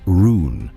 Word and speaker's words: Run: The island was called Run, which I will pronounce Rune so it is not mistaken for the ordinary word.